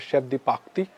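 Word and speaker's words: chef de partie: are there in the kitchen then we have Chef diarti or in French properly pronounced as Chef diaki there job title is Chev department is Kitchen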